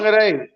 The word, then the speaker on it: Whangarei: Oh, from Whangarei? Is that did I say it right? Whangarei? Oh, Whangarei.